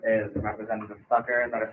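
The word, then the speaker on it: Cakar: My name is Representative Sucker. That is spelled C A K A R.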